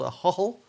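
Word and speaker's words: Ahoghill: t i am in a little village called a hotel which is spelt a h-o-g-h-i-l-l a hog hill and that's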